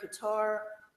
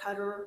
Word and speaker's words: Qatar: So in 2008, they honored Qatar, or Qatar, it's pronounced either way, depending on the circles you're speaking to, but then I did the cultural highlight on that.